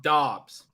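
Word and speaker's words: Doubs: bring back with Romeo Dubs. It cracks me up. I think he had 2 targets and 0 receptions. Hey. Oh, really? Pete. Yeah, Eric would like us to know that it's pronounced Dobbs.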